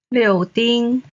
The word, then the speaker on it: 柳丁: 颜色颜色 Then, 柳丁 orange. 柳 is the third tone. 丁 is the first tone.